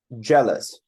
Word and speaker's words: jealous: ing jealous jealous so the focus the stress is on the first part correct because otherwise it